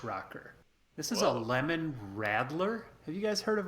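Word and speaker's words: Radler: pronounce it interestingly um the best pronunciation video on it was arnold schwarzenegger because this is a law yeah and he called it a rattler i was ready to call it a rod law or whatever like they would but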